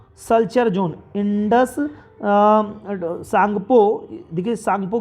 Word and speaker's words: Tsangpo: Indus सांगपो, देखिए सांगपो की spelling T है, साइलेंट है, मैं लिख दे रहा हूँ स्पेलिंग, आप थोड़ा ध्यान दीजिएगा।